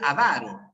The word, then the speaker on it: avaro: Así es, la palabra es avaro. Es que hay gente que pronuncia avaro, pero es gente que está pronunciando mal la palabra. ¿Ya? Es como si dijeras, no sé, por ejemplo, pizarra en vez de pizarra, ¿no? Simplemente una mala pronunciación, nada más.